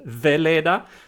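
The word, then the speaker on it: Wala: It's a German double V. So I pronounce it Vela, nota, just for our English listeners.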